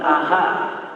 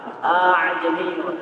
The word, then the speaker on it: أعجمي: A'jami wa 'arabi. Bukan aha. A'jamiyun.